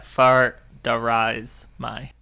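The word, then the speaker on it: Far Dareis Mai: You looked it up? Yeah, far darais my. Okay, you got it.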